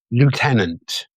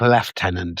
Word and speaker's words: lieutenant: It's not left tenant, is it? It just isn't. There's no Fs. There's no PH. There's nothing to suggest that the presence of an F in that word.